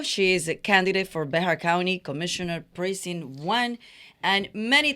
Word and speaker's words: Bexar: English speakers so in English we call it Bear County like uh let's see there there's uh uh